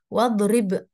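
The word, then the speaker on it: واضرب: Kalau wanya dihilangkan, maka kita bacanya idrib. Tapi kalau ada wawnya, ya, sebelum alif di sini, maka alifnya ini gugur, ya. Bacanya, lafalnya gugur. Jadinya wadrib. Oke, wadrib.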